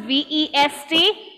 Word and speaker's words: vest: good ameya wonderful so in the first one which is vest the teeth touches the lip up uh the bottom